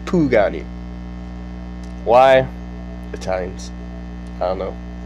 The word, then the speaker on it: Pagani: Isn't it pronounced Pagani? No, it's pronounced Pugani.